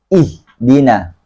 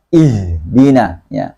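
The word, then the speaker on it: اهدنا: di pangkal tenggorokan saja maka bacanya ihdina ihdina bukan Idin a bacanya e-dinar kemudahan shotnya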